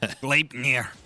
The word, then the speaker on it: Gleipnir: You got to put a little I in there. Gleipnir.